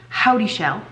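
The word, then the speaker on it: Houdyshell: days I do Sydney howdy shell I finally figured out how to say her name um I do her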